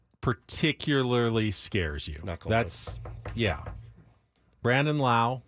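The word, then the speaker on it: Lowe: That's Brandon Lau. Does he pronounce it Lau or I think Low? it's Low.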